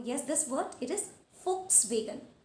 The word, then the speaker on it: Volkswagen: So yes, this word, it is Volkswagen. Volkswagen, not Volkswagen. So the letter V will be replaced by the letter F.